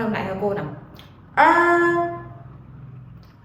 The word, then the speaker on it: er: một âm uốn lưỡi, Khi các bạn phát âm thì các bạn sẽ cong lưỡi của mình lên. Các bạn phát âm lại cho cô nào: “er, er”.